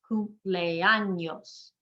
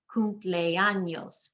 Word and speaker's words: cumpleaños: It ends in an S. We're going to emphasize the second to last syllable, and the E and the A are 2 separate sounds because they're both strong vowels. Cumpleaños. 4 syllables.